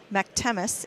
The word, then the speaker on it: McTemis: I believe it's Eloise McTemis is how you say the last name.